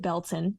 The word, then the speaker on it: Baileyton: If you're from the area, you pronounce it Belton, um but it is uh spelled Baileyton.